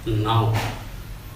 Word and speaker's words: know: KNOW is pronounced as no.